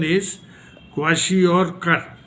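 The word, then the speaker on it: kwashiorkor: disorder so here mentioned in your book also quashi or but exactly it is the pronunciation isashi or okay so this is uh the disorders because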